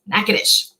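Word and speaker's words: Natchitoches: this slightly differently but this is the louisiana pronunciation of that one yeah not your topic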